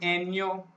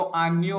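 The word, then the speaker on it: año: तो अभी भी हमारा ए का प्रोनाउंसिएशन जैसे आ हम लोग बोलते हैं, जैसे आन्यो को हम लोग बोलते हैं एन्यो, है ना, तो आन्यो होता है।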